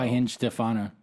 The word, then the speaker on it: Weihenstephaner: Weihenstephaner. That is how we pronounce the beer.